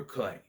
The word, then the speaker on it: Cleigh: But by the way, his name is Tucker Clay. You think it would be spelled Clay? No, for some reason it's spelled Cleigh.